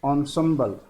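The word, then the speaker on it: ensemble: इन symbol को यहाँ लिखा है ऑनसम्बल, इसको प्रोनाउंस करना है डियर स्टूडेंट्स, ठीक है, ऑनसम्बल।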